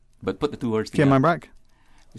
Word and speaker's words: Cayman: is gay man hmm and when we couple it then with phrases like Cayman Brac Little Cayman or the Cayman Islands we tend to minimize that strong accentuation on the last syllable and that is the correct way he was tending to